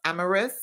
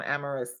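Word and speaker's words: Amyris: And then I also have, I want to say it's pronounced Amaris, A-M-A-M-Y-R-I-S.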